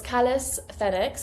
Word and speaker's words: calisthenics: Um, so it's callus thenx and it comes from the Greek words which mean beauty and strength.